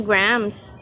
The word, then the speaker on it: Graham: And the secret to it ay kumain kayo ng grams. Okay? Para tumama yung graham niyo. Ay grammar niyo pala. So yung correct pronunciation ng Graham is gram.